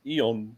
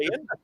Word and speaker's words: Ian: Yeah, Ian. It's the correct pronunciation. Ian. Ian, not Ian or Ion.